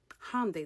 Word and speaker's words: Hyundai: Hyundai, that's how you pronounce it, by the way.